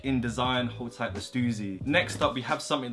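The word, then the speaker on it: Stüssy: number four black t-shirt yes I say Suzy because what that's the correct way to say it's crazy simple design at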